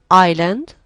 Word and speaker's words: island: t took silent l island silent s wessel silent t and